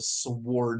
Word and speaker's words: sword: And I think I even pronounced the W. It's a sword.